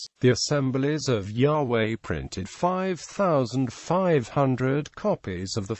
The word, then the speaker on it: Yahweh: the Christian Church testify that the name was pronounced Yahweh prominent religious leaders have agreed that Yahweh cannot